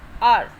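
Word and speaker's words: hour: We will pronunciate it एज आर. हावर नहीं बोलेंगे हम इसको. हम इसको क्या स्पीक आउट करेंगे, आर. आर में किसकी साउंड आ रही है, वोवल साउंड है ये, आर.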